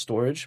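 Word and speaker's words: Storj: It's actually sometimes pronounced storage because the spelling is like S t o r.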